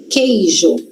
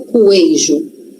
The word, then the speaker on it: queijo: A gente não lê u, eu não falo coeijo. Coeijo não. Q que. Então tem um qu, tem, só que só tem um som. Som de k. Não tem som de ku, tem som de k.